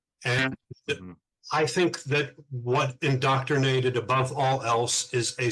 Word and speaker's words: inDoctornated: Now, keep in mind, it is spelled inDoctornated, not indoctrinated. It's inDoctornated.